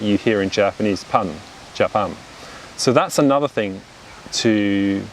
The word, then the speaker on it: Japan: a similar stress yeah like if i say the word for example japan right the country japan the first syllable has a similar stress to the second little japan right it's the same sound pronounced consecutively whereas british people would say japan right so notice how i've unstressed the first syllable and i stress the second syllable so japan becomes japan